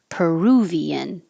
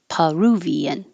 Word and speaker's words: Peruvian: Peruvian or Peruvian.